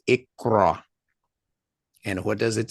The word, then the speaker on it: iqra: And again, it is pronounced IQRA.